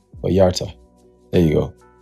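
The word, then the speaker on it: Vallarta: Viarta.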